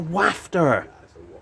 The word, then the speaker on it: wafter: it's a water no it's a wafter well it's spelled with an a waft not waft Mel's question teal coffee